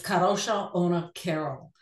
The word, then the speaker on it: Kadrolsha Ona Carole: I would kill it my name is karosha Ona Carol and it is Russian polish and the owner is